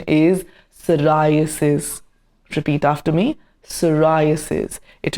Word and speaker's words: psoriasis: The pronunciation is a bit tricky but it is not fisaurus or persurasis. The correct pronunciation is psoriasis.